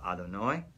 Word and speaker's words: Adonai: How we pronounce it is called Adonai, okay?